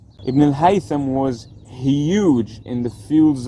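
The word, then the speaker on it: Ibn al-Haytham: there is a huge historical scientist who's called ibnel Haytham ibnel haitham was huge in the fields of physics math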